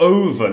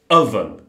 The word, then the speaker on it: oven: It's not oven, it's oven. Oven.